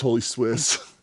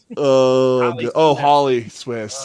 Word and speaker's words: Holly Swiss: you mispronounced Holy Swiss. Holly. Holly Swiss.